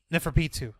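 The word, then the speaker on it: Neferpitou: who was on the Neferpito, or however you pronounce the name. Neferpitu.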